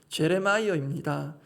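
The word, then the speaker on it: Jeremiah: 마귀를 제압하셨습니다 말씀 정리하겠습니다 예레미야 그 이름의 영어식 발음이 제레마이어입니다 제가 원어민의 발음이 잠시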